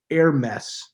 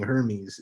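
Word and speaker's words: Hermès: at a place called air mess which is air masses just like a fancy french way of saying hermes and it's spelled the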